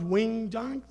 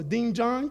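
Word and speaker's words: doenjang: to pronounce it correctly it's not Wing Jang there's no O So ding Jang is a soy base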